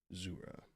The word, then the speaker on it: Jura: the black sides of Jura I believe that is the right pronunciation zura glad I checked they discovered more distinctly